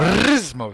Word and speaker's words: Rismos: Yeah, you rolled the R. Rismos.